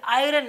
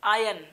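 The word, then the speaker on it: iron: वह Bigg Boss आयरन यह आयरन नहीं बोलते इट्स आयल आंखें आयरन आए होम इसके बाद अब आयरन नहीं बोलेंगे इससे आई एम आर यहां पर साइलेंट है वेडिंग सेरिमनी इसमें खास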